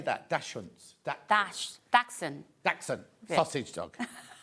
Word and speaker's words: Dachshund: Dachshunds.